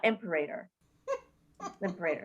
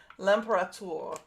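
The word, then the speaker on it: L'Imperator: called the emperor liberator am i saying it wrong yes we'll put it in the show notes uh so that those of you who actually can read the french can read it i believe it's lampara okay that yeah that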